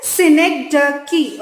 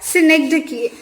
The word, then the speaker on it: synecdoche: pronunciation you can see over here it is synecdoche okay it's pronounced as synecdoche and it's very easy it's nothing very complicated